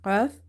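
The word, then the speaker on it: ق: Then, qaf is pronounced. Qaf, it's heavy. And some of the voice is falling in the throat.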